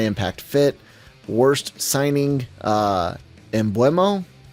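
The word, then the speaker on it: Mbeumo: Uh, Embuo. Am I close? I think he he likes to he likes to pronounce it in bumo, but Embo.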